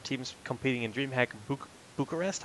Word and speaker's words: Bucharest: Yeah, so that's top 4 teams competing in DreamHack Bucharest. How do I pronounce that?